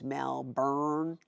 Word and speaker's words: Melbourne: doing hey Lily Melbourne I keep trying to say it correctly I say it wrong all the time but I think it's Melbourne melbour but isn't Melbourne how in Australian would say it I've heard too that it's melburn melburn which sounds very American